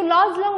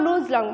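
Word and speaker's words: Luz Long: Lozlong और ये जो Lozlong और Luzlong माने some pronounce Luzlong and some pronounced laws लॉन्ग सो तुम्हें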